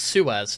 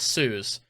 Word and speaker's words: Suez: Due to evacuations around the Suez Canal, millions Oh, it's Suez, not Suz. Sorry, that's my bad. So, it's Suez. I've been pronouncing it wrong this whole time.